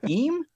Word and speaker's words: Eem: So Cler says, "Is is it pronounced em?"